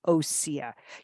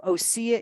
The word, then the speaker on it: Osea: clean vegan skin care and Body Care from osea you're going to get 10 off your first